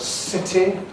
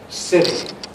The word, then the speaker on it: city: The word city in American English therefore becomes city.